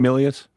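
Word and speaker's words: Milius: I mean you you have uh what's a it was directed by uh John I don't Millius or Malias how do you say his name? Millius.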